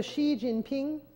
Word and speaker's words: Xi Jinping: an X in pinin is pronounced like an sh so Xi Jinping you see there by